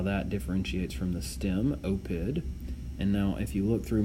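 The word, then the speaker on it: oppida: And then in the plural, nominative and accusative plural neuter end in a short a, okay, which is pronounced ah. So notice opida, and then opida again in the accusative plural.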